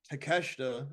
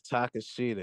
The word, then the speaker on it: Takeshita: We have Konosuke Takeshita, and that's how you pronounce it. Yeah. against Kenny Omega. Keith, who you got? Omega. All right. D'Lo, who you got? It's Takashita, and he's getting the W again.